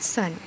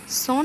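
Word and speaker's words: son: grand daughter নাতনী grand সান নাতি daughter কন্যা সান পুত্র এটা বানানের ক্ষেত্রে আমরা দেখতে পাচ্ছি এস ও এন সন লেখা আছে কিন্তু আমাদের সঠিক উচ্চারণটা হবে সান মানে পুত্র ম্যাটারনাল আঙ্কেল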